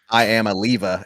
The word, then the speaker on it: Iamaleava: I am a leva is how we pronounce it now, right?